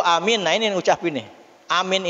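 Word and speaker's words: آمين: Amin itu a-nya itu 6 harokat. Ya, kalau saya ngajarin ke anak 6 harokat itu gini, amin. Pakai ini jari, amin. Tuh. Bukan amin, ya.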